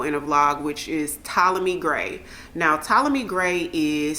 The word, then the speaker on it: Ptolemy: Also, another one that I told you guys about a long time ago in a vlog, which is Ptolemy Gray.